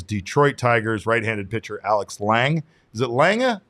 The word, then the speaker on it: Lange: One of those names is Detroit Tigers right-handed pitcher Alex Lange. Is it Lange or Lang? Just Lange. I believe it's just Lang.